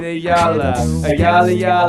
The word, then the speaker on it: Ayala: I know a guy named David Ayala, baby, and it's a hoot, a holla. That's how you pronounce it.